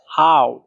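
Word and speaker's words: 好: 3 number tone উচ্চারণের নিয়ম হচ্ছে উপর থেকে নিচে, আবার নিচ থেকে উপরে। হাউ, এই যে দেখেন হাউ, হাউ, এটা হচ্ছে 3 নাম্বার টোন।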